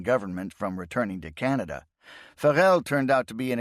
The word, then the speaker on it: Varel: commission for Germany at Varel, pronounced Fel, a small city 20 kilometers south of Villimav and on the same large bay in the North Sea coast.